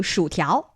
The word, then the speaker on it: 薯条: Ooh, 薯条.